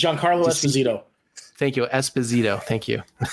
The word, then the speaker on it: Giancarlo Esposito: for Christ's sake you were so white it's Giancarlo Esposito thank you Esposito thank you thank you